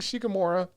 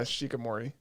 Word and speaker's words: Shikimori: but yeah I think shikamora yeah you'd watch it so much you got the name wrong yeah shikamori that wasn't so good